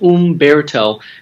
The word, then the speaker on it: Humberto: And with that first name, it's an Italian-Spanish name, and the H is silent, and it's pronounced Umberto, kind of like a bear, and a toe.